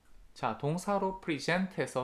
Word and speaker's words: present: 자, 동사로 present해서 second syllable의 강세 있다는 거 아셔야 되고요.